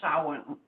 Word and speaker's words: Samhain: And so my Googling says it's pronounced Samhain. Yeah, and something like that. Gaelic, it doesn't look anything like that.